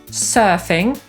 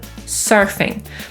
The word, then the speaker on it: surfing: /ˈmɜ:də/ albo /ˈmɜ:rdɚ/ albo „surfing”, który po polsku czytamy przez „e”, po brytyjsku będzie to /ˈsɜ:fɪŋ/, a po amerykańsku /ˈsɜ:rfɪŋ/.